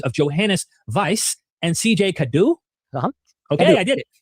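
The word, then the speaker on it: Cadoux: Cadu.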